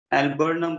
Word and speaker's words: alburnum: ये ना इसकी स्पेलिंग से ही कर देते हैं, एल्ब्यूमिन की, ये स्पेलिंग की है एक्चुअली, एल्बर्नम बोलते हैं इसको।